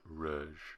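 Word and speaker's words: Reuge: playing incidentally the music box is marked with Rue groig I didn't look up the pronunciation for this we'll go with Rue because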